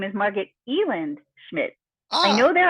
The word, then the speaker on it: Elland: the Ellis Island thing, that it's pronounced Elland and spelled Elland.